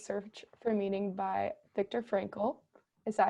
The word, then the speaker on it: Frankl: reading called Man's Search for Meaning by Viktor Frankl. Is that how you pronounce his last name? I think so. I mean, Okay, at least in my head, awesome. Viktor Frankl.